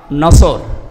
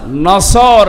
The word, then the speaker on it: নাসর: নিয়ে আমরা তাফসীরুল কোরআন মাহফিলে প্রবেশ করছি সূরা নসর কোন সূরা বলেন বলেন নসর না নাসর নুন সোয়াদ র নাসরুন শব্দের শাব্দিক